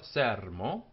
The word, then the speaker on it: sermo: It's telling us that we don't say sermo, but sermo, and the first syllable is what we call heavy, as opposed to being long. Heavy meaning it's got a consonant at the end. It's a closed syllable.